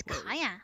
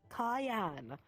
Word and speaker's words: Cayenne: It is Cayenne. What's my name? Cayenne. I mispronounced it, that's Cayenne. why. It's Cayenne. It's Cayenne. like how I remember is like pepper, as I've been told.